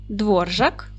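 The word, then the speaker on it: Dvořák: найпопулярніші в Чехії прізвища Дотримуйтесь діти правила наголошення чеських слів пам'ятайте його правильно наголос буде падати на перший склад Отже Новак Свобода Дворжак чех горок Шипка чапик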